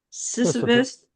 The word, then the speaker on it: Sisyphus: Sisyphus.